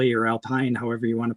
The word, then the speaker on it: Alpine: So you're saying some people pronounce it Alpine? Yeah, generally the French will say Alpine. Alpine. It is a French company, French car manufacturer.